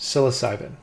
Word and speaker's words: psilocybin: siloc silos cybin I think that's how you pronounce it psilocybin let me look again um silos cybin yes psilocybin SOS cybin okay so psilocybin I guess is